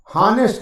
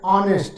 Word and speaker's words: honest: हॉनेस्ट नहीं है, ऑनेस्ट है।